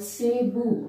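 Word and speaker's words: ಸೇಬು: first fruit is apple apple is called Cebu in kannada see boo Sable the English pronunciation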